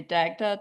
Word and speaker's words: Dagda: Dagda Dagda.